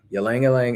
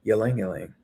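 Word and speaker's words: ylang: It's spelled y a n g. No, not y l a n g. That's how I say it.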